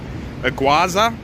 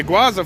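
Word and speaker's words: Iguazú: called, let me see, it's Iguaza, not sure how to pronounce it, but Iguaza, sort of like iguana, I presume.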